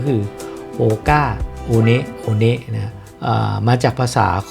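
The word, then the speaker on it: One One: Earth นะ คน อเมริกัน ส่วน ใหญ่ ก็ จะ เรียก ว่า โก้า oneว หรือ แม้ กระทั่ง พวก เรา เนี่ย ช่วง แรก ๆ เรา ก็ จะ เรียก ว่า โฮก้า Oneวัน แต่ จริง ๆ แล้ว ต้อง อ่าน ว่า โอเนะ โอเนะ นั่น ก็ คือ ที่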